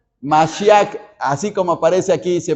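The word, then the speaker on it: מָשִׁיחַ: la palabra para Mesías en hebreo se pronuncia masia así como aparece aquí se pronuncia masia que es Mesías primero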